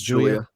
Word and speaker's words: Julia: It's Julia.